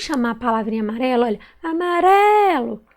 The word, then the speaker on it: amarelo: Olha, amarelo. Qual que eu demorei mais a falar? Foi o ré. Então, a sílaba tônica é o ré.